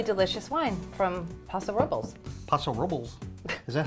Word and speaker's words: Paso Robles: Paso Robles. Is that how you? Is that how wine people pronounce Paso Robles? Listen, I once was like you, Paso Robles.